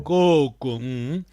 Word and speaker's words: koko: Coco. Aquele coco é vogal longa, a primeira sílaba.